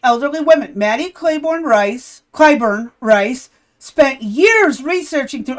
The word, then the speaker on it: Clyburn: It's Clyburn, not Clayburn. Clyburn. How do you How do you spell it? I can't see. C L Y B U R N.